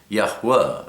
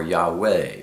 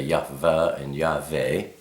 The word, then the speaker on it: Yahweh: ancient is the W we say Yahwa or Yahweh. We don't say Yah and Yave.